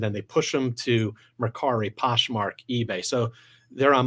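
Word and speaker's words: Mercari: um i know there's one i might even mispronounce it makari is that right that's correct okay what is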